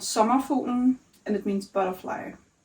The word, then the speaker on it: Sommerfuglen: speak Danish and I'm having a hard time pronouncing it. It's called summer futen and it means butterfly.